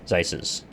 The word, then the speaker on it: Zeises: I don't know if it's the same rule everywhere, but in German, if it's EI, you pronounce the I. If it's IE, you pronounce the E. Whichever one comes last.